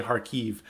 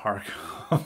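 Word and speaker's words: Kharkiv: they're signing up for or they'd say harkev uh not harco that's that's a russian way of saying the city but we're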